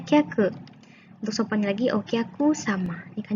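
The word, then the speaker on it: 客: Ya, nah ini bacanya kyaku.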